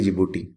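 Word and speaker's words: Djibouti: Number पे आता है छोटी सी कंट्री जिबूटी, इसमें डी वैसे साइलेंट रहता है, तीसरे नंबर पे आती है सोमालिया, और चौथे नंबर पे आती है इथोपिया।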